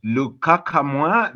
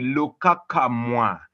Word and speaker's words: Lukakamwa: I'm Lukakamwa, the name which has teased Marty, it has teased Chris for quite a long time, but well, that's how you pronounce it. It's called the Lukakamwa.